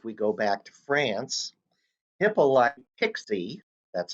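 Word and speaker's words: Hippolyte Pixii: time period if we go back to france hippolyte pixie that's how the name is pronounced built in early form of alternating current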